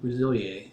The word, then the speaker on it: Resiliélle: Well, the top cosmetics company is called Rosilier, and it's Rosilier instead of Rosil because I put an accent mark over it and screwed up the way you pronounce it.